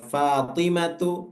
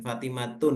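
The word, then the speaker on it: فاطمةُ: lamnya ya kemudian ee fatimatu itu juga enggak boleh ditanwin baca Fatimah itu enggak boleh fatimatun gitu hamzatu enggak boleh juga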